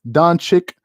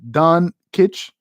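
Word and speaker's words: Dončić: noticed that he complains a lot um it's pronounced don chick not don kitsch okay thank you for that correction um if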